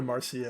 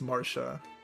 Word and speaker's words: Marcia: Jill over Mars- I keep calling her Marcia. It's Marsha. For the record, I grew up in a town that's like mostly Hispanic and like Marcia is how you'd pronounce it like that, right? But, someone in my comments is arguing that like, you know, it's a Portuguese name and it's actually Marsha.